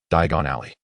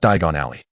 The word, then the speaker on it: Diagon Alley: Simply ensure you pronounce the location correctly, Mrs. Weasley reassured Harry." As Harry stepped into the fireplace, clutching a handful of flu powder, he murmured to himself, "Diagon Alley! Not Daon Alley!